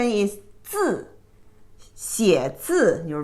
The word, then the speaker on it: 字: The pronunciation is 字, 写字, your right character.